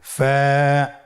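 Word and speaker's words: فاء: ফা কফ কাফ লাম মিম নুন ওয়াও হা হামজা ইয়া। ফা হরফটি আপনারা স্ক্রিনে দেখতে পাচ্ছেন। ফা হরফটি উচ্চারণের ক্ষেত্রে বারিক হবে এবং এক আলিফ টেনে পড়তে হবে।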